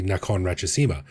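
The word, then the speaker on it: Nakhon Ratchasima: the province is actually Nakon Rachesima. They took the the last syllable of the first word and the first syllable of the second word.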